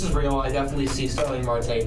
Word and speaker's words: Starling Marte: I was thinking I pronounced it No, wrong. you had it right. No, you had it right. Starling Marte.